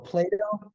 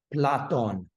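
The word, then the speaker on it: Πλάτων: Apollon or Plato. Plato. That's not how you say that in Greek. It's platon. Platono. There's an N at the end of it.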